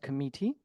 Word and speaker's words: committee: in the word comme uh it is uh pronounced committee uh there was also use of um inappropriate